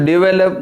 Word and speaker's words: develop: some financial assistance to develop my company see where the stress should be given financial second syllable assistance second syllable develop second syllable company first syllable if you want to